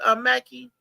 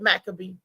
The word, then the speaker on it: Maccabee: Mackey. Wait a minute. It's not Dr. Sorry. Go ahead, Maccabee. Yeah, that's how they say it. Maccabee. Macka, then the letter B, Maccabee.